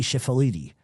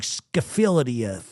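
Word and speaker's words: Schifilliti: I can say it but s c h i f i l l i t i jeppi chifaliti holy crap we would have been like scafilia anyway Philip Ibrammo and those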